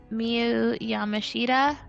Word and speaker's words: Miyu Yamashita: And then we had Marcus Mather and YDNP versus Billy Starks, Megan Bain, and Miyu Yamashita.